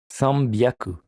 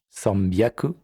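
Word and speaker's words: 三百: Voici pour la prononciation des centaines. Hyaku, ni hyaku, sanbyaku, yon hyaku, go hyaku, ropyaku, nana hyaku, hapyaku, kyu hyaku.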